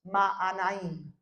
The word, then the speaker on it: Mahanaim: Lo estaba pronunciando en inglés. Es Mahanaim.